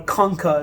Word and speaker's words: concha: and the inferior nasal concha based on superior inferior the only one that's on our list is this inferior nasal concha or conka is how you should pronounce it but it sounds funny